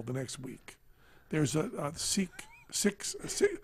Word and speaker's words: Sikh: next week there's a Sikh six see they pronounce it wrong like six six they don't pronounce Sikh they say it differently a lot and there